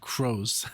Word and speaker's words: Croce: He told me that it's not crows because it's like pronounced crow.